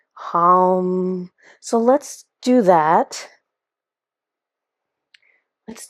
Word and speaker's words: HAM: it's a word that looks like it says ham it's h a m but it's pronounced more of a h that kind of